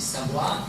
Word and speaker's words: savoir: Le mot savoir doit être placé ici parce que normalement quand on dit savoir, c'est le deuxième syllabe qui est plus longue, le premier qui est plus court.